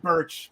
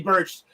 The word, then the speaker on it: Burch: See, I'm so used to saying Lorcan and Birch or Borkin and Lurch because of John Smith, and I just said it right, and I thought I said it wrong.